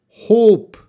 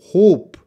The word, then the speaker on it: hope: hop hop hop hop hope it's a long Oh hope I hope you get